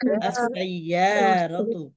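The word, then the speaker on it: السيارة: এর লামের উচ্চারণ হবে হবে না হবে না সিনে তাসদিদ হবে বলি দেখি আলিফ লাম লাগায়া আস্তাগফিরুল্লাহ as-sayyaratu আসাইয়ারাতু as as-sayyaratu as-sayyaratu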